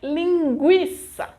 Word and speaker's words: linguiça: There are some words that are exceptions for this rule, like linguiça.